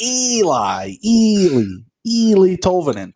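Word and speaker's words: Eeli Tolvanen: All right, first up, we've got, I guess it's Eli Tolvanen. Is it Sounds Eli? Good to me. Double. The first E is silent, like the D in the in the front of my name.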